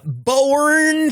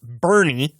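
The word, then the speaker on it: Boerne: Uh Let's move on down the list here to uh bourn Texas. This one's always thrown me off. Uh bourn just not pronounce that. It's pronounced Bernie like Bernie Sanders.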